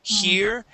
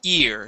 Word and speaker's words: ear: You're adding an H to the beginning, saying here and hold. Okay, that would change that to a completely different word. Okay, so here we want to start off with the E sound only and say ear.